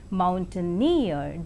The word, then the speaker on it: mountaineer: And in the 3-syllabled word mountaineer, the last syllable is more prominent.